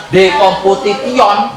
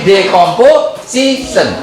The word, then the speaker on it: decomposition: Bukan decomputition tapi decomposition.